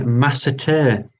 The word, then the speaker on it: masseter: Now, correct me for my pronunciation. That is the masseter.